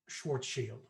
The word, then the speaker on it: Schwarzschild: It's pronounced Schwarzschild. Schwarzschild? Shield Shield. means That's black fitting. shield in German.